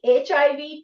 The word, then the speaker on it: HIV: What a better pronunciation. H pronunciation. I have given the pronunciation. It is a y c h i v h. What is this sound?